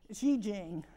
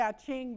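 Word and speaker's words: 易經: Okay, this 29 in the I Ching, which is an eight, Xi Jing is the correct way to say it. But I like to say I Ching because we do.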